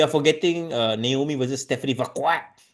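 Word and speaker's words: Vaquer: It's Vqua. Thank you very much. Vqua. Not not V. Not veer.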